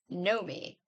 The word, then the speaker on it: Naomi: a chain between them this is Naomi pronounced Nomi hello Nomi smiled Emma